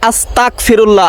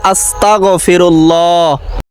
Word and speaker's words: আস্তাগফিরুল্লাহ: গুনাহ হয়ে যায় কারণ অনেকেই বলে আস্তাগফিরুল্লাহ আসলে আস্তাগফিরুল্লাহ এটা মারাত্মক ভুল সহি শুদ্ধ উচ্চারণটি হবে আস্তাগফিরুল্লাহ জীবনে তো কত ভিডিও শেয়ার